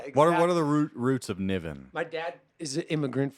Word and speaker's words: Niven: Niven that is me Niven you said it right all right you wouldn't believe how many people they don't know me though coming to the stakes like Ravine I was just gonna say the the man they called Naveen no she's like Wonder